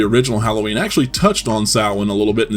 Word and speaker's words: Samhain: They also discover the word Sam Hain written in blood, which is apparently pronounced Samhain, thus tying these movies to the occult from now until the end of the Thorn trilogy.